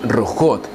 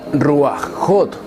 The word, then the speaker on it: rujot: Esta misma regla de la het dice que cuando la het no es la letra final, la vocal no se antepone al sonido de la het, por lo que su pronunciación en plural femenino sería rujot, y nunca ruajot, y mucho menos ruajim.